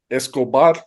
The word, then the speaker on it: Escobar: say it correctly because I can't roll my R's and you put like eight seven no yeah I think that one you don't have to roll it Escobar oh okay there